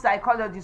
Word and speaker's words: psychology: It is pronounced psychology.